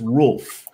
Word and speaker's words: Rolf: So it's not Wolf, it's Rolf.